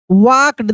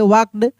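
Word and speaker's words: walked: वाक्ड, देखिए L silent है, बताए ना, बहुत सारे आपको साइलेंट लेटर का भी प्रैक्टिस कराएंगे. वाक्ड.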